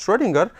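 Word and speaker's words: Schrödinger: o uml out and it is pronounced as if it is o e so s c h r o e stronger ah this this equation was given by the austrian physicist schroedinger and this equation is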